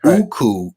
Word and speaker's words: Uku: Uku is the correct pronunciation.